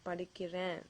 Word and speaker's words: படிக்கிறேன்: You can say நான் படிக்கிறேன்.